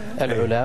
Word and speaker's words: العلا: طنطوره وفي كثير من دكتور نطقها سليم العلا ولا تس الع الع اي نعم العلا وابها طبعا خلها بالصيف